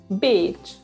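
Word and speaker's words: Bécs: say beach the bee can you say again beach well it's almost spelled like beach it's b e with an apostrophe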